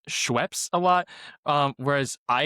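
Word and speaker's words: Schweppes: Um, so I think it's supposed to be Schweps, but between me, my brother, and our cousin, um, it's Schweps.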